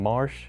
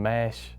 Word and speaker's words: Marsh: as little cousin had problems saying my name Marsh which is my middle name and he will stay and mash like that and guys just kind